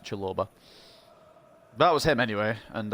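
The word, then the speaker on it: Chalobah: pronouncing that that was chill over what's pronounced chiloba that was him anyway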